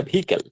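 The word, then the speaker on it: vehicle: টিতে travel desire to ইন a smooth ভিকেল, উচ্চারণটা ভিকেল, travel desire অর্থাৎ সে কি করতে চায়, ভ্রমণ করতে আকাঙ্ক্ষা।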